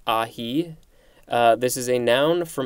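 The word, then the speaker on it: ají: ahi a j i i think it's ahi this is a noun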